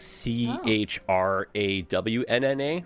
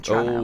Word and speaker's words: Toronto: Do you do like CHRAWNNA for your pronunciation? I live in Toronto. I live in Toronto. Oh, Toronto? Yeah, that's a hard T.